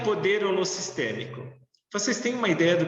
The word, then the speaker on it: holossistêmico: A palavra holossistêmico, ela tem, né, alguns falam holossistêmico, outros falam holossistêmico, né? Eu pronuncio holossistêmico.